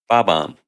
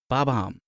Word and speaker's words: Bob-omb: B-O-B hyphen O-M-B. Bob-omb. Bob-omb.